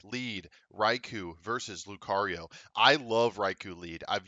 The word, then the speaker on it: Lucario: my early commentary days when I did not understand that the sea was a hard C and not a soft C uh so Lucario in